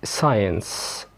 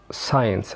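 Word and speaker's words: science: لكن عندنا القاعده العامه ان حرف السي لا ينطق لو جه قبل منه حرف الاس. خلاص، زي كلمه ساينس ساينس علوم scissors seen muscle descent ascend.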